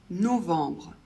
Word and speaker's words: novembre: Le premier O, il va falloir le prononcer comme un O fermé.